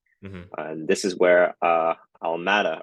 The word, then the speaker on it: Alameda: And this is where Almada or Almeida, I don't know how to Alameda. really pronounce it. I think it's Alameda.